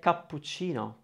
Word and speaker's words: cappuccino: hearing it but you know when you say cappuccino the kai is very open and clear the pu kappu kapoor you're actually pronouncing for syllables your goal as a speaker